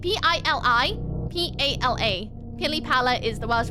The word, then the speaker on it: pili pala: Pili Pala? No. Pili. P-I-L-I-P-A-L-A.